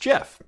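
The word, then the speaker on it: GIF: say that i believe the creator gets to name his own creation and in that in that uh idea or that that ideal uh it should be pronounced jif well a couple of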